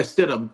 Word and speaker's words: Stidham: Yeah, Jared Stidham, how do you say it? Stidham? Yeah, Stidham.